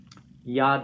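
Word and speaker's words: יָד: One of these, the yad.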